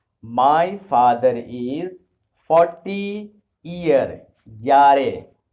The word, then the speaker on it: Jahre: Jahre. Jahre. Let me tell you one more secret, that most of the European languages, unlike English, J is pronounced as year.